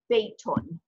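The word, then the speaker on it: بيتٌ: To tell us that it's a house, just any house, we pronounce it beitun, beitun.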